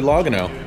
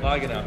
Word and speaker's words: Logano: Joey Logano. That's how you say it, right? Logano. Yeah.